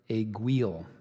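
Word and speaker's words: aiguille: of many roadways caliche aguil and there's an alternate pronunciation a GUI this word is from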